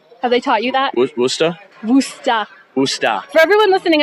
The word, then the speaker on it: Worcester: they taught you that booster booster booster for everyone listening at home it's the way it's spelled sounds like it should be pronounced Worchester it's not it's booster and don't call us